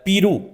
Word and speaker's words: Peru: नाम है जी अ पीरू इसको पीरू भी पढ़ते हैं पैरो भी कुई लोग पढ़ते हैं इसके स्पेलिंग्स है पी